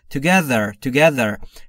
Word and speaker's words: together: Together، دقت بکنید تلفظ TH رو، زبون زیر نیش دندون بالا، سعی میکنید بگید ز ز زنبور. Together.